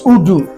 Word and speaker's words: Udu: This is Udu, strictly Igbo.